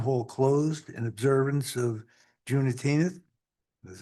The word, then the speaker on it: Juneteenth: June 19th, 2025, Town Hall closed in observance of Juneteenth. That's how you pronounce it.